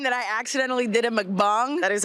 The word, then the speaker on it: mukbang: The time that I accidentally did a mukbang. That is how it's pronounced.